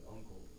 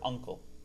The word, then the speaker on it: uncle: just pronounce the word uncle. When you say uncle, do you see an N? Is there an N in there? anywhere?